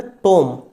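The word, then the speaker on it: tomb: उसके बाद आता है टॉम। हमने क्या बोला? टॉम। लेकिन लिखा हुआ क्या है? टी ओ एम बी टॉम। तो यहां इसे बोलेंगे हम टॉम। लिखेंगे हम टॉम।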